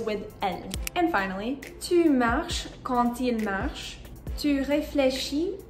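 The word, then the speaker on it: marchent: Il pluriel, you add ENT, but you're still going to have the same pronunciation.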